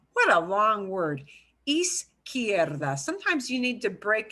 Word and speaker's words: izquierda: And that word izquierda is hard for a lot of people to pronounce. What a long word. Izquierda.